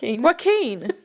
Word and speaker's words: Joaquin: Joaquin. That's not how it's spelled.